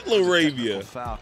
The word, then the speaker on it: LaRavia: It is Laravia. That man been saying his name wrong this whole time.